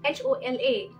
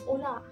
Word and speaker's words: hola: so first of all H is silent so like h-o-l-a is not hola it's ola J is H so